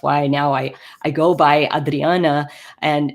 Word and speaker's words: Adriana: living here in Canada, I used to go by Adriana when telling people my name, but I've in more recent years have tried to embrace more of the Portuguese pronunciation of my name, so going by Adriana instead, because I've realized that